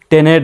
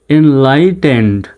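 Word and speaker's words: enlightened: এন লাই শব্দশটা একবারে মিলিয়ে পড়তে হবে টেন্ড কিন্তু বানান করতে স্বাভাবিকভাবে বানান করলে কিন্তু টি ই এন ই ডি টেনেড এরকম হয় তাই না টেনেড হয় তো সঠিক উচ্চারণটা হবে টেন্ড এনলাইটেন্ড প্রয়োজন শব্দগুলো যখন আমি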